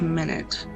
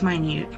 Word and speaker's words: minute: It's spelled minute. Maybe I should say it that way, but I think it's minute.